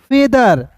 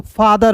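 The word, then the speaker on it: feather: आर होता है दोस्तों फादर होता है यहां पे इ आ गया ना दोस्त तो इ के लिए दोस्तों उच्चारण हो जाएगा ए के रूप में तो इसे क्या पढ़ेंगे फेदर फादर नहीं पढ़ेंगे दोस्तों समझ गए फिर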